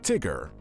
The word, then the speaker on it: Tigger: we have the only one of his kind tigger pronounced t-i double gu er tigger is one of